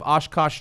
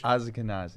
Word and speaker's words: Ashkenazi: Find out if you have Oshkosh Jewish in you. Is it Oshkosh? How do you say that Jewish? Ashkenazi.